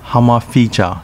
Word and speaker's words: Hamahiga: Hamahiga, pronounced Hamafija in Uchinaguchi.